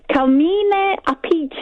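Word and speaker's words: Appice: In Vanilla Fudge, it's Carmine Apice. If you say that in kind of Italian. Carmine Apice.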